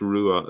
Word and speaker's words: rua: There is an Irish word it's pronounced rua as well.